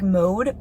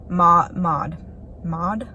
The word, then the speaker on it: Maud: Like in my head I always say it like Mode, but it's obviously not pronounced Mode. It's like Maud.